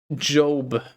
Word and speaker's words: Job: It's pronounced Job. Job Joe Biden.